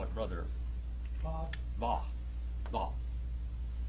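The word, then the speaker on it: וָו: Va. Va. They pronounce it with a V.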